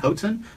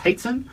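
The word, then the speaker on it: Hoatzin: It looks like Hotzen, but it's Haitzen.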